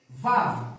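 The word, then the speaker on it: וָו: Vav. O Vav, ele vem dessa forma mesmo, ó. Ele vem com W. W-A-W. Vav.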